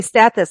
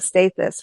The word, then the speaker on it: Stathis: it right well stat you say status I was saying State this right so status holds yeah this is the way he pronounces it yeah okay well however